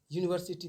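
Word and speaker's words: university: Indefinite में हम लगाते हैं ए और एन, तो यूनिवर्सिटी देखिए उच्चारण यू एन आई, यूनिवर, तो यू, तो य का उच्चारण हो रहा है यूनिवर, य से, तो य व्यंजन वर्ण में आता है।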